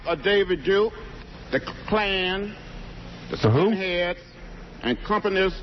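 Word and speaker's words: Klan: name correctly the clan the claim that's how john says it claim oh he thinks kkk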